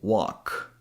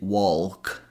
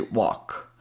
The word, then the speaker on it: walk: For example, walk. Here we just go from the W sound to a and then end in a K sound. So, we're not going to say walk. We're gonna say walk.